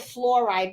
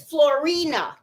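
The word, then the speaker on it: Floriani: And there's another one that's really, really shiny that I like, and I call it fluoride, but I know I say it wrong because y'all know my Spanglish, okay?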